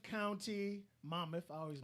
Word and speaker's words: Monmouth: ocean county 135 new cases one death uh mammoth county monmouth i always mispronounced that monmouth county uh we had 134 new cases one